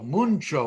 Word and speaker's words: muncho: this vocabulary test dejar we pronounce it mucho muncho with an n in it look at gordo reverse